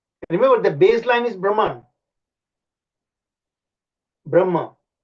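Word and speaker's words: ब्रह्म: Brahma. Sanskrit word is called Brahma, but the English, they mispronounce it as Brahman or Brahma, you know.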